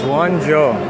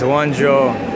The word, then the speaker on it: Guangzhou: So how you say it is Guangzhou. Some people are saying GAC, and it's Guangzhou. So different.